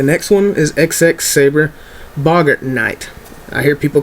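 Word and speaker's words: Boggart: it is common D this is how you pronounce this guy's name the next one is XX saber Boger Knight I hear people call this Bogart all the time like he's Humphrey Bogart or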